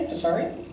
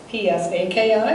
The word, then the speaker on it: Psaki: I think the P is pronounced. I'm going to do it very softly, Psaki.